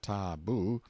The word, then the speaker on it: tabu: themselves in hiding-places till the tabu pronounced ta-boo, means prohibition, we have borrowed it, or sacred.